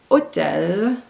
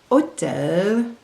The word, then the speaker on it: hôtel: Remember that the H in French is silent. So the first word is the French word for host, hôte, hôte, hôpital, hôpital, hôtel, hôtel, rôle, rôle, fantôme, fantôme.